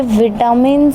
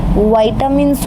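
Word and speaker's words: vitamins: इसको विटामिन बोलते हैं, लेकिन सही नाम सही प्रोनाउंस इसका वाइटामिन्स होता है, जो दो शब्दों से मिलके बनता है, वाइटल प्लस एमिन्स। वाइटल प्लस एमिन्स, इससे बनता है वाइटामिन। हम अक्सर बोलते हैं विटामिन।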